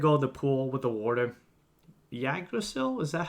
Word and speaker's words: Yggdrasil: to go to the pool with the water, Yggdrasil? Is that how you say the tree? Yggdrasil?